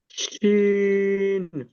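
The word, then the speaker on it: شين: শিন। হ্যাঁ, শিন। এটা মানে যে, যেমন আমরা বলে থাকি হাঁস বা বাঁশ, যেই উচ্চারণটা শেষে আসে, হুম, ওই উচ্চারণটা এখানে হবে, শিন, একটু মোটা করে শিন।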